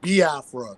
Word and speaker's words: Biafra: is is a e sound so it's yes ba Afra so you you know for people out there who want to know how to pronounce it some people say B Afra because